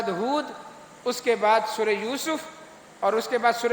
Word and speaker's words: یوسف: یونس اور بھائی یونس بات سننا، اس طرح یوسف سین کے اوپر پیش ہے، بہت سارے یوسف پڑھتے ہیں اس کو، نہ یہ یوسف ہے نہ یہ یونس ہے، دونوں جگہ پیش ہے، یونس اور یوسف۔ قرآن مجید اگلی صورت